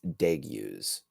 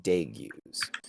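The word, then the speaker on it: Degiuz: city in real and the Demon's name is deu could you spell that yeah d e g i u z deu okay he's an ice demon embodying the essence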